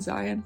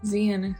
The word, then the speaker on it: Zen: name wrong I think I've been saying Zion zeen is I think my